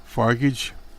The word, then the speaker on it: Farage: Moore was joined by far-right heavies, including Nigel Farage, I suppose I pronounce, Mr. Brexit himself. Brexit isn't doing that well, but Frugal, I suppose how you pronounce his name, said